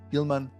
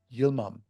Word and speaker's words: Yilmam: the podcast very excited to have back Pilla Gilman Pilla welcome thank you so much you're welcome I'm sorry I mispronounced your last name which is Yom that is correct yeah all right awesome it's